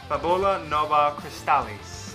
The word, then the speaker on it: Fabula Nova Crystallis: Fabula, I might be pronouncing this wrong, it's in Latin. Fabula Nova Crystallis. That's how you pronounce it.